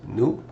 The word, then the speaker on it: nous: We learned we is nous. Remember, don't pronounce the S.